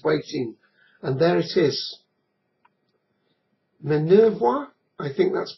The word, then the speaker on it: Minervois: Minervois, I think that's pronounced.